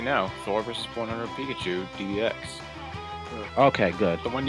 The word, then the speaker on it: Pikachu: Robuscus, on your earlier note, I was actually checking, it's just Pikachu, not Pikachus.